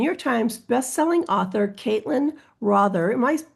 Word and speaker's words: Rother: We have New York Times best-selling author Caitlyn Rother. Am I pronouncing that correctly, Caitlyn? Rother rhymes with author.